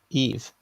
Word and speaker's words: Yves: I don't know how to say it, but I'm sure the first bit's Eve, like YVES.